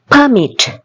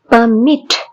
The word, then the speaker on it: permit: permit, permit, மிட்ல எங்களுக்கு stress கொடுக்குறோம். permit.